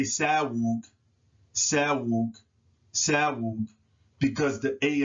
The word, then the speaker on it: Sahul: that it is interchangeable, but it should be Sahul, Sahul, Sahul, because the S and the influence of the A in front of the W, S's are soft, but W's are hard. So you can't say Sahul, Sahul, Sahul, because the A and the A